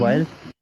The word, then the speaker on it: whilst: whilst कौन सा? while और st है. वाइल्स. वाइल्स.